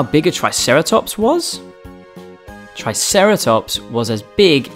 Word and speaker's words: Triceratops: who do we have with us today triceratops try sarah tops can you say it with me try sarah